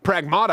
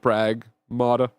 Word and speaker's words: Pragmata: Pragmata I think has really great moment-to-moment gameplay.